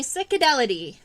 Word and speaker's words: Cicadellidae: All right, so we're gonna be doing leafhoppers, and leafhoppers are in the family Cicadelidae. That is spelled Cicadellidae, Cicadelidae.